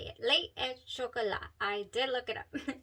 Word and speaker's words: Lait et Chocolat: Lei Et Chocolat.